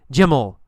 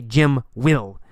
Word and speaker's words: Jim'll: We say ol. Jim'll. Jim'll. The man'll. The man'll challenge him. Jim'll fight him. We don't say Jim will. We say Jim'll.